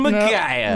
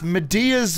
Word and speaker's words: Medea: Slash Quest by Big Green Pillow featuring Magaya. No, you pronounced it wrong. Oh, correct me then. It's Medea's Big Green Pillow.